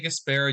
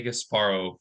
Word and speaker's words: Gasparro: Is No right or wrong. You can say either way. I say Gasparro, you guys say Gasparro.